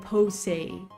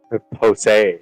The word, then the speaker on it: Poussey: Like, it's spelled like Poussey, like Posey. Posey. Yeah, Posey.